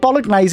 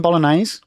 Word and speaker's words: bolognese: Did you just pronounce the G in bolognese?